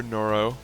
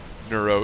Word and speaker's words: Neuro: in the base here the main base for noro nuro excuse me I don't know why it is so hard for me to pronounce this guy's name it's not that it's